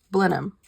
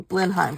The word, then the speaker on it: Blenheim: Churchill house that was blam which I kept calling Blenheim because that's how it's spelled but they don't pronounce it that way Blen I I know